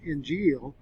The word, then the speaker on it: Injil: the greek word diablos injil and more phonetically or more phonetically in english injeel is properly spelled in